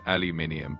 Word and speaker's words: aluminium: In the US, it's typically pronounced aluminum, and in the UK and many other places, it's pronounced aluminium.